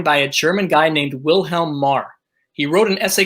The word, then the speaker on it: Wilhelm: You know the W is actually a double V. Wilhelm. That's why in those times, those W's, thing that so-called started with W, was actually pronounced with a V vernacular.